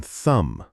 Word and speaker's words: thumb: Don't pronounce the B in thumb.